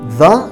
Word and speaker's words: the: okay so where is the university so this word university starts with a y sound so we say the university like in you the university okay another one we